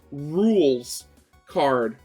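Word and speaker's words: Rouxls Kaard: I discovered that rules card's name was literally pronounced rules card.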